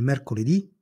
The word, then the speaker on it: mercoledì: e di genere femminile le parole con l'accento sull'ultima sillaba si chiamano tronche e non cambiano al plurale esempi il lunedì il lunedì il martedì Il martedì il mercoledì il mercoledì il giovedì